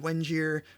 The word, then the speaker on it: Wenger: GitHub thread there with Mr David Wenger rhymes with engineer uh is uh we're